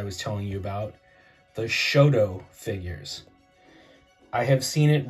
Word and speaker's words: Shodo: as s-o--d-o but um when I talked to my friends that live in Japan they pronounce it Shoto so you know whatever